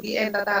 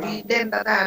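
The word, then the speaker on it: bidentata: Ở đây thiếu chữ đờ, không phải vi en data đâu mà vi den data đấy.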